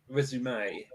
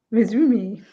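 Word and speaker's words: résumé: Resume. Resume. That's how I would pronounce it. But you got to have the accent on the E. Resume. Resume. Ooh, resume.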